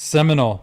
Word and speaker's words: Seminole: Seminole.